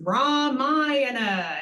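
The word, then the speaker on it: रामायण: Similarly, mispronounced words, it is Ramayana, emphasis on the long sounds.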